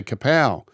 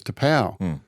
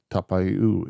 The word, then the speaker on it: Tapau: Every time he got the ball, I'd say Kapow because it was Tapau. He actually had Kapow number plates. Yeah, I know. That's his whole brand. Yeah. But then his correct pronunciation is Tapau, is it? Tapau. Yeah, Tapau, which he prefers to go to by now.